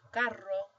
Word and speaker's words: carro: This one would be pronounced carro, whereas this one is caro. So that's how they make the distinction between the two words, carro, caro.